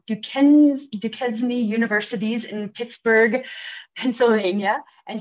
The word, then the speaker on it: Duquesne: Outside the Forest Service, Lo taught composition and communications classes at Chatham and Duquesne, I'm pronouncing that wrong, Duquesne Universities in Pittsburgh, Pennsylvania, and she holds a Master of Arts degree in writing.